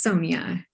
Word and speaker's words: Sonya: is lisa but uh is it sonya or sonya it is sonya sonya okay thank you for